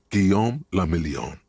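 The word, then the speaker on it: Guillaume Le Million: Guom Lamelon. If it doesn't rhyme, you're not pronouncing it right.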